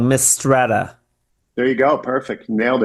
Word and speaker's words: Mistretta: Tell me if I'm pronouncing this wrong. Mistretta.